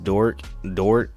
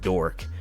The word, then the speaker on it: Dort: I've been seeing is Luguentes Dort. I said Dork. Luguentes, I'm surprised I pronounced that right.